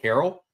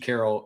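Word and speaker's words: Carell: Um, remind us you you get the uh but you have to you have to come on and pronounce it Steve Carroll. Uh, and if you pronounce it Steve Carol, you'll get your uh claw pull.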